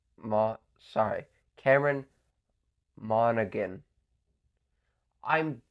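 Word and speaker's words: Monaghan: Thal Marvel Spider-Man 2 I went with Cameron Morgan Mo sorry Cameron monan I'm butchered everyone's name here except Ben star but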